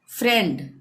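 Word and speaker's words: friend: यहाँ पे ध्यान दें, फ्रेंड, फ्रेंड, इस शब्द में आई ई, यहाँ पे आ रहा है ना आई ई, तो इस शब्द में आई ई का उच्चारण ए है।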